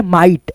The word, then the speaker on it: might: जैसे यहाँ पे जो है ना MIGHT आ गया तो यहाँ पे GH जो होता है साइलेंट होता है, ठीक है। और आई को हम लोग क्या पढ़ते हैं, आई से, जैसे माइट, है ना।